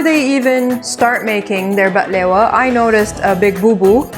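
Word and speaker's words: بقلاوة: Today we are going to be reacting to baklava, or as it is pronounced in Arabic, Baklewa. It's Baklewa. So Baklewa. So Baklewa. Not baklava, Baklewa.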